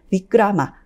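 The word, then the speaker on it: विक्रम: 근현대 이야기들에서는 비크라마, 그리고 이것을 힌디식 발음으로 하면 마지막 아를 떼고 위크람이라고 불립니다.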